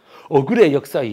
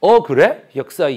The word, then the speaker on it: Aggro History: ' Aggro-ui History' 라고 읽으시면 안 됩니다 . 채널 이름 은 'Aggro History' 입니다 .